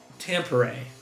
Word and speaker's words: Tampere: One is from Wembley, and the other one is from Tampere. Hold on, I pulled up the pronunciation.